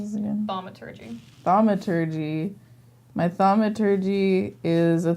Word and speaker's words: Thaumaturgy: How do I pronounce this again? Thaumaturgy.